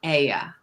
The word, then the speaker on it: Oia: It's pronounced it with an E, that the OI sound in Greek is an E.